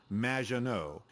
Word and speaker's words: Maginot: It's Madge, which rhymes with badge, as in duh, and no as in more than you. Maginot.